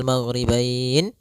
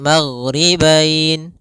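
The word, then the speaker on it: مغربين: Maka kita boleh membacanya maghribain 2 harokat, maghribain 4 harokat, maghribain 6 harokat.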